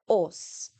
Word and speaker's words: os: O. So not O, but O. The example we have is an ox. But once again, listen to the difference. O, ox. In Afrikaans, we say o, os.